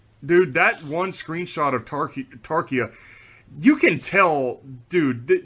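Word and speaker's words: Tarchia: So to see Tarshia, I know you pronounce it Tarkia, but I like pronouncing it Tarshia.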